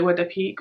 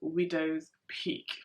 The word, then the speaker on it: widow's peak: I say widow peak, like that's just how I grew up pronouncing it, widow peak. But it actually is called widow's peak.